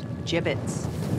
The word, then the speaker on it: gibbets: look Avery had some gibbets left over some bits what it's pronounced jibbets you sure well wait